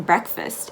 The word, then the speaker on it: breakfast: didn't have breakfast breakfast so that a in breakfast is actually going to be in an i sounding a breakfast and the ea does not become break it becomes break the a is silent and it just becomes an sound breakfast breakfast now you walk into